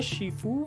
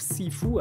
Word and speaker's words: Sifu: خیلی میگن شیفو ولی خودش گفت سیفو. الان فکر کنم تلفظ درستش حالا همون سیفو باشه.